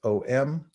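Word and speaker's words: ॐ: a um but it's pronounced om with a little nasal like bonjour so i'm going to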